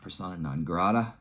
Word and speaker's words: persona non grata: listen I sound the more I like it persona nagrada is that you pronounce it yeah persona non grata uh not a weak track going here um